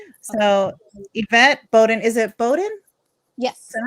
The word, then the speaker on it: Boden: So Yvette Boden, is it Boden? Yes. Is that how you pronounce it?